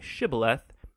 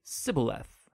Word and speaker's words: Shibboleth: It turned out that the Ephraimites had grown up pronouncing that word differently, so instead of saying Shibboleth, they would say Sibboleth.